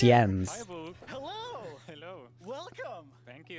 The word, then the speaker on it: Jens: okay bye tiny ends it's really end it's pronounced yens hello hello welcome thank